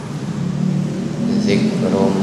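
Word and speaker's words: ذكر: Awajibatum an ja'akum dzikrum Zik bukan zi ya. dzikrum Bukan zik. Lidah di depan. Ini depan mana? Depan dicepit gigi atas.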